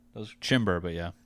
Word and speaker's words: Chymbor: That was Chymbor, but yeah. Chymbor. The O can be an E. It can be an O. Spelled Chymbor. It's pretty easy, but thanks for having me, Chymbor.